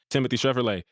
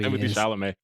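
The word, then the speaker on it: Timothée Chalamet: Williams, Ty Dolla $ign, Timothy Chevrolet, and Laura Harrier. You could at least say his name properly when we're announcing who the cast list is. They know I'm talking about Timothy Chalamet.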